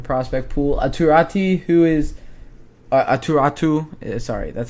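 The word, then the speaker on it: Aatu Räty: Aturatu, who is Aturatu. Sorry, that's how you pronounce his name.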